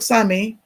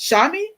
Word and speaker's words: Sami: In the book, Sami, pronounced. Okay, now see how it's pronounced? It's pronounced. I know. I probably had it wrong. What is pronounced Shami?